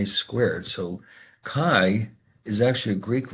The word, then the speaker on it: chi: So kai is actually a Greek letter. Let me show you what it looks like. It's basically a fancy x. It's spelled chi, but it's pronounced as if you're saying kai.